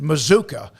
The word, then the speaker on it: Mazuka: with the offensive lineman mazuka uh is how you sounds pretty good it sounds like a bazooka as an offensive lineman